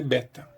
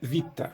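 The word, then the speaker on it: βήτα: é assim e isso é pronunciado com o é longo e aberto na pronúncia reconstituída clássico Então seria Beta Beta EA transliteração pode ser feita dessa forma a forma moderna da letra escrita do mesmo modo com acentuação monotônico agora põe a pronúncia Vita Oi e o valor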